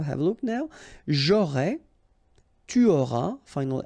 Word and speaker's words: tu auras: J'aurai, tu auras, final S not pronounced, il aura, elle aura, nous aurons, final